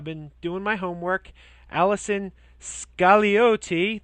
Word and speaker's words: Scagliotti: Allison Scagliotti. The G is silent.